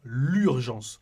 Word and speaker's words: l'urgence: Quand vous avez L' et urgence, vous devez dire l'urgence. C'est comme si le L était collé au mot.